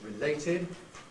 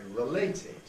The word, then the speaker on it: related: there and say horses similarly with the Rick prefix related there's a minority who say related and I think the general Trend clearly is towards getting rid of it as a weak Val entirely and